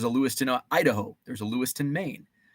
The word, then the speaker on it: Lewistown: Lewiston Idaho there's a Lewiston Maine there's a Lewistown Illinois that's actually pronounced Lewiston uh uh do you